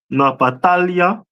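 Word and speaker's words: נפתלי: Is the tribe of Naphtali, which is pronounced in the Hebrew Napatalia, which means my wrestling, and they are the people of today from Argentina to Chile.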